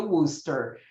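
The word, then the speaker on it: Worcester: T é o que wooster tem e sim aquilo se pronuncia woster culpem os ingleses a woster é focada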